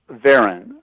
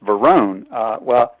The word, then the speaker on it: Varon: And people listening might be saying, well, it's Verone. Professionally, he's mostly known as Saul Verone. His name is actually pronounced Varon, but whenever it was billed or anything, people started calling him Verone.